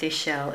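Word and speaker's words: Ixchel: what it says Ah it shows you how to pronounce it Isel pronounced Isel is a Mayan goddess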